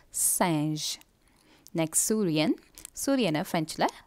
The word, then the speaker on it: singe: And a G or a soft G, so singe.